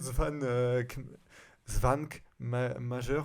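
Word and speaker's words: Švankmajer: Svan Svank Major, en plus je suis même pas sûr que ça se prononce comme ça vu que c'est tchèque.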